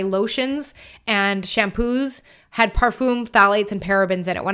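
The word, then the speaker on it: phthalates: skip the other thing Fates and that is spelled p h t h yes p h t h a l a t s phades you want to skip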